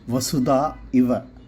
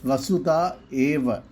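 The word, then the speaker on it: वसुधा एव: Some of you had disjointed the first phrase of Vasudaiva Kutumbakam as Vasudha Iva, translating to the world is like a or our family. Actually, it is Vasudha AEva. The stress is on Eva, meaning is.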